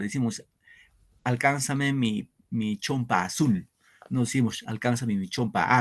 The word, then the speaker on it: azul: sílabas ahora pregunto acá la palabra azul Dónde va el acento en a o en azul azul Cuando digo dónde va la mayor fuerza de voz sobre las profesores su profesor muy bien correcto azul claro decimos alcánzame mi mi